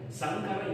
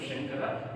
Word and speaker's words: Shankara: I respect but in reading if you say Sankara instead of Shankara, it gives a different name.